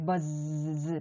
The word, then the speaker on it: buzz: 그 다음에 buzz인데요. z 발음, 알파벳의 마지막 글자 zero 할 때 z입니다. z가 두 개 겹쳐 옴으로 해서 b, b 발음. 그 다음에 u의 기본 파닉스 발음이 어잖아요. 버스 할 때 버잖아요. 그 다음에 이 z 발음은 정말 떨리게 해주셔야 해요. 알파벳 g 발음처럼 한다고 하거나 하시면 안 돼요. 이게 확실히 떨려주셔야 돼요. 진동이 느껴지셔야 합니다. 진동음이기 때문에 작은 동물의 날갯짓 소리라고 하시면 돼요.